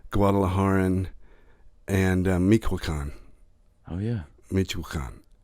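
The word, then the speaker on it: Michoacán: Michoacan, I think is how it's pronounced.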